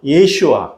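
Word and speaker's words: ישוע: 어, 예수는 히브리어로는요. 예슈아 또는 여호수아로 이렇게 발음이 되는데이 예수는 헬라어로이 발음한 것이에요.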